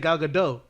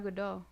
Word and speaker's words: Gadot: say gaga no i said gaga and you said gaga dough it's gal gadot no there's a tea i listen to her it's a soft tea though it's a very soft tea you you use a